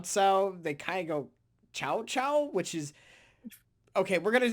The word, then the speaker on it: Cao Cao: people in English, because it's not pronounced how it's spelled.